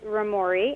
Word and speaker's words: Roamori: Yep, so the name of the company is Romori, and it's spelled Roamori, and it's a combination of two different ideas.